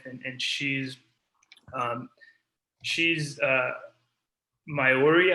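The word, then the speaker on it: Māori: she's um she's uh myori i believe is how you say it um but um indigenous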